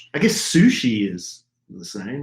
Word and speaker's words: sushi: I guess sushi is the same, right? Like you don't ever say sushis. Sushi or is it sushai? No, you don't say sushai.